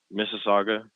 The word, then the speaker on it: Mississauga: just outside of toronto okay how do you pronounce that town mississauga oh you're from mississauga okay from what i